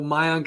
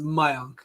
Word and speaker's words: Mayank: actually technically pronounced as my own so it's a part of that yeah so you know it's like that second a is always like an o from what i learned